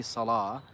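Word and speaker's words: صلاة: should be pronounced but because there's a dagger Aleph on top we just say Salah what's interesting is the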